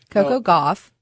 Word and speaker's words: Coco Gauff: Coco Gauff.